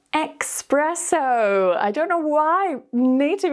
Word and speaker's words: espresso: our brains just think, espresso, espresso, and we get a bit confused. So be careful, there's no k sound, it's just espresso, espresso.